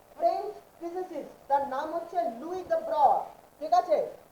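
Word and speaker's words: de Broglie: 1924 একজন young French physicist, তার নাম হচ্ছে লুই দ্য ব্রয়, ঠিক আছে? লুই দ্য ব্রয় হচ্ছে গিয়ে ফ্রেঞ্চ ফিজিসিস্ট, যেটাকে আমরা আমাদের ইংলিশ প্রোনাউন্সিয়েশনে লুই ডি ব্রগলি বলি।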